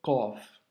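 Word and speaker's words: قاف: Le Qaf, c'est une lettre, comme tu peux l'entendre, emphasée. Donc, c'est une lettre emphatique, elle doit remplir toute la bouche quand tu la prononces, et il ne faut du coup surtout pas la confondre avec le kef, tu vois.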